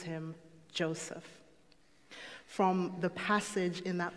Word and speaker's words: Joseph: The name itself, Joseph, or by the Hebraic pronunciation, Yosef, means God will give.